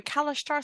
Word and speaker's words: Kalashtar: I'm a Kalashtar, so I'm also psychic. That is the correct way to pronounce that. I'm French, I know.